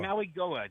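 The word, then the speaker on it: Mauigoa: know uh Francis and I knew how to pronounce his name. Magua Mwa Maui Maui Goa Maui Goa Maui Goa.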